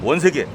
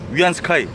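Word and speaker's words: 袁世凱: 우리 한자식 발음으로는 원세계 중국식 오리지널 발음으로는 위안 스카이 황제가 돼 가지고 결국 말로가 좋지 않죠.이 양반도이 양반도 말로가 좋지 않죠.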